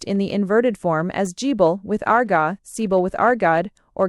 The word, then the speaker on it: Gibil: fire god written db billilg and to be pronounced in the inverted form as gible with argible with argod or ga as the phonetic complement.